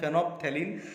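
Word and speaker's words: phenolphthalein: और एक फेनोप्थेलिन, इसका प्रोनाउंसिएशन है फेनोप्थेलिन।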